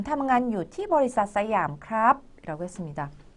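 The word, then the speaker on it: สยาม: 그래서 버리삿 싸이암 하면 싸이암 회사에서 일하고 있습니다. 예, 시암사라고 그랬는데요. 시암은 영어로 SIAM이라고 그래서 시암 하는데요. 사실은 태국어로는 싸이암이라고 예, 발음을 하죠.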